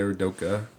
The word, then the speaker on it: Udoka: Is it Udoka? Is that how you say his name? Yeah, Udoka.